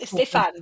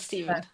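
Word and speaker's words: Stéphane: That was Stefan, though. It's not Stephen. Oh, yes, Stefan. Stephen. No, it's Stefan. If I'm going to say Corbet, I must say Stefan.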